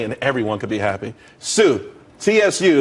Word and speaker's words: Tsu: there's more money and everyone could be happy Sue CSU it's pronounced Sue though that's a that's a website dot Co